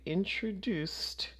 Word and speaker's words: introduced: decided and finally you introduced your friend to everyone so here we have that s sound at the end so this becomes a t introduced all right we have